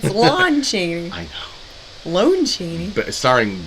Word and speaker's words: Lon Chaney: The Lone Chaney. It's Lon Chaney.